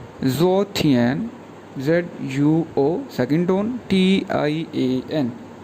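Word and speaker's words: 昨天: इसी तरह यस्टरडे के लिए जो वर्ड यूज़ करते हैं उसको बोलते हैं ज़ो थियन, ZUO सेकंड टोन, TIAN, ज़ो थियन, ज़ो थियन।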